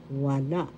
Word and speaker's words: wala: First syllable wa second syllable la wala the second syllable has the accent so you pronounce this or because in tagalog wala nothing or none.